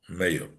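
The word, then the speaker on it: מאה: So the Gemara, Reb Meir darshans, "Al tikri ma elo meyo." Don't pronounce this as what, but as meyo, elo meyo.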